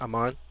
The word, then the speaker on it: Aman: and by the way did i pronounce your name correctly aman oh yeah you've been pronouncing it right the entire semester so